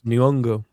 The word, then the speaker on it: Nyong'o: Because of Lupita Nyong'o, which is not how you pronounce her name, apparently. Really? Oh, really? Nyong'o. Well, no, she announced. We put it in our video. She pronounces it. How does it go, Garrett? It's Nyong'o. It's Nyong'o. Yeah, it's like really quick.